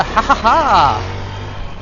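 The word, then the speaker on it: ห้า: And thank you for the haha Kurt. For those of you who don't know yet, the number five is pronounced ha in Thailand.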